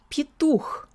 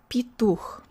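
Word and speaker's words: петух: So we have palatalization. We also have vowel reduction. It's not stressed, so it sounds more like E. Here's the first syllable. P. P. Pituch. Pituch.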